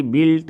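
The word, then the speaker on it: built: इसी प्रकार उसका V2 रूप भी है, तो उसमें भी बिल्ट, है ना, यू हटा दीजिए।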